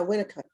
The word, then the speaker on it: Winnicott: And so what we were going to talk about today, based on some of your interests, was Winnicott. Is it Winnicott? Am I saying it right? yeah. Winnicott.